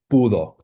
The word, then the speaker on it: pudo: was able or managed is pudo, right? Not podio or pudio or anything like that. So pudo. So you've got stress on the penultimate syllable throughout the paradigm, where all other verbs have final stress in the first singular and third singular of the preterite, right?